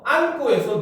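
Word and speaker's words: 앉고: 안고에서 니은지읒은 니은으로 발음하는 것이 옳은가요? 맞습니까? 틀립니까? 그죠? 니은으로 발음하는 게 맞죠?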